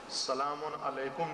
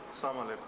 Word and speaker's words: السلام علیکم: سلام علیکم نہیں کہتے السلام علیکم السلام علیکم.